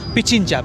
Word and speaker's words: Pichincha: पिंचाचा, how do you pronounce? Pichincha. पिचिंचा। It's the province, and the capital is Quito.